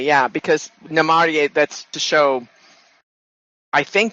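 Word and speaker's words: Namárië: But if you want the accent to be on a different syllable, you put the accent mark in to note that that's the syllable it should be. Otherwise, it would be Namarie. And this way it's spelled, it's Namarie. I mean, because you're putting your accent on the A.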